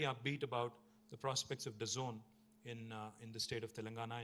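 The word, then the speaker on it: DAZN: It is pronounced The Zone, but it's spelled D-A-Z-N.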